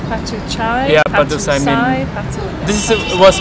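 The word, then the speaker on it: Patuxai: In Laos, what do you say? We call Patusai. Patusai. Yeah, Patusai mean Victoria. Victoria Gate. Victoria Gate. I didn't know if it was Patuchai.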